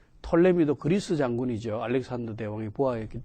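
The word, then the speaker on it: Ptolemy: 그 다음에 그 성서와 이집트 문화에서 우리가 뺄 수 없는 것이 그 톨레미, 어떤 사람은 푸톨레미라고 발음합니다만은, 그러나 피자가 묵음이 되어서 톨레미 왕조 때에 그 70인역 성경 셉투아진트가 이집트 알렉산드리아에 있는 그 파로스 섬에서 번역이 이루어졌습니다.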